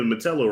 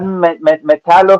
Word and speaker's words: Metallo: That's how you say it, Metallo, right?